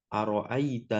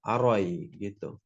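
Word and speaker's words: أرأيت: Apa perbedaan dalam qira'at Imam Al-Kisa'i? Hamza tidak dipertimbangkan. Jadi 'ra' langsung masuk ke 'ya ' sukun, "a-ra-ita." Namun jika kita mengikuti riwayat Imam Hafs' an 'Asim, kita membacanya dengan huruf Hamza.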